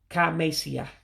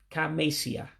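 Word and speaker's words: Ka emesịa: So if you notice something, that first E in mesia, you're dropping it. So that's why it becomes Ka mesia. Ka mesia.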